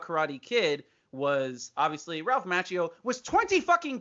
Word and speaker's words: Macchio: star in any case ralph mc machio it should be macchio if he knew how to pronounce his name correctly in italian but he was dope